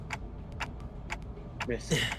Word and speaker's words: merci: Merci is how you pronounce it.